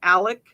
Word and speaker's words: Alex: crazy i'm sorry it always bugs me he pronounces his name alec and it's like but you didn't it's not spelled that way it's spelled with an x so why'd i have to say alec alec murdoch in connection to the under age